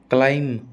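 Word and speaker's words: climb: लैम, बी आप ऐसे याद रख लो भाई, डेट, क्लाइम, आप ऐसे याद रख लो, एम बी आर बी, एम बी आर बी में बी हमेशा साइलेंट रहेगा।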